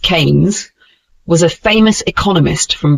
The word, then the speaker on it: Keynes: Keynes pronounced Kanes was a famous economist from Britain.